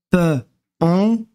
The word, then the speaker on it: pont: Mar marque que marque et U sur sur le P on pon le T ne se lit pas il a ve u